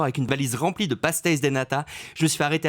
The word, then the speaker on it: pastéis de nata: Alors, je suis allé à Lisbonne il n'y a pas longtemps et j'ai un super souvenir, les pastéis de nata. Est-ce que je prononce bien ? C'est très bien.